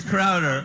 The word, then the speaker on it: Crowder: Well, that's why he got the name wrong. I just want to make sure that it's Crowder.